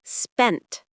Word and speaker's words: spent: Many learners say spending, but forget the D in spent, right? The past tense. I spent money yesterday. The T is sharp, quick.